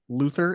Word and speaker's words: Luthor: which I feel like I call him Lex Luthor because I feel like that's what the comics always said, or not the comics, the cartoon, but they always pronounce it as Luther in the movie.